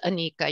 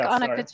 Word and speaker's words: Anika: a big deal but my name is anika you pronounce vanica um but i like annika too it's fine um right